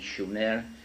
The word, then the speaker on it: Sumer: in a land called Sumer, in the correct spelling and pronunciation, Shumer, which meant land of the guardians, in southern Mesopotamia, which is today's Iraq.